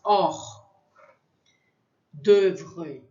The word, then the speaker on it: hors d'oeuvre: H tem som, o H em francês, o H tem som de H como o nosso, não pronuncia. Fica como se ele não existisse. Hors d'oeuvre. Então, esse O e U é só um E bem fechado, d'oeuvre.